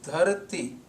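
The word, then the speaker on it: ਧਰਤੀ: There is I sound at the end of this word. This I sound is a vowel sound of Punjabi called Sehari. So when we speak this I sound in the pronunciation of this line, when we speak this I sound with this word at the end, dharati, it gives the correct meaning as earth.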